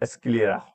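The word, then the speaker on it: sclera: और एक हो गया स्क्लेर स्क्लेरा। ठीक है? इसको प्रोनाउंसिएशन आप देख लेना स्क्लेरा करके बोलते हैं।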